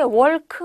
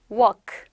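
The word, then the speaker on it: walk: 바램 하시는 분들 계시죠 얘는 애가 없다고 발음 하시면 정확한 발음입니다 l 발음 없어요 그럼 어떻게 말하면 되요 그냥 깔끔하게 워크 애가 정확한 말이에요 월 크 틀립니다 l 발음 스러운 거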